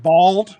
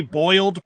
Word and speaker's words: boiled: your turn go well for anyone who's in the south it's pronounced bald like you don't have any hair so it's bald peanuts if you say boiled peanuts they'll know you're